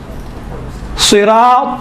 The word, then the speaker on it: صراط: کوئی زیادہ فرق نہیں ہے۔ اسی تا کا تلفظ کو تھوڑا موٹا بنائیں تو ہی بنتا ہے۔ صراط المستقیم، تل نہیں ہے، تل مستقیم، تھوڑا سا